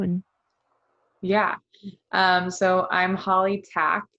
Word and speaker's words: Tkac: So I'm Hollie Tkac, like thumbtack. But the K is silent. It's Tkac.